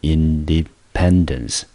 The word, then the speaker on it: independence: depend，后面 d-e-n-c-e，中音节落在第三个音节，所以这个字我们就念成 independence 独立。